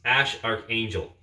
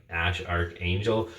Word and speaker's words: Æ A-12: into play here, but I think it's supposed to be pronounced Ash Archangel, unless it's a hoax.